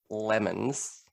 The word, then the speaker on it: Le Mans: have been saying it lemons you know when life gives you when life gives you lemons make it le more i literally have written my name to a city called le mans pronounced lemon and i still my